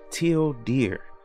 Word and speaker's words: tilde: it says down here if you pronounce tilde in english it sounds like till deer hence the project name